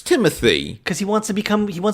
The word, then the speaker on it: Timothée: Because he insists it's pronounced Timothy. Yeah. But it is spelled Timothée. Like the way you and I are saying it is the way that you would spell. And Dad's French, and it's the French spelling.